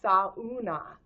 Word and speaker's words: sauna: So this one's called, if it's Finland, in Finnish you say every syllable. So sauna is sauna.